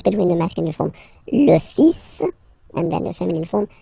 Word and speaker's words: fils: So it's le, and then even if you've got this L, well, basically you don't pronounce it, and then strangely you pronounce the final S. Le fils.